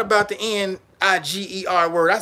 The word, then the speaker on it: Niger: country when I first found not about the n i g e r word I said oh that's niggga no they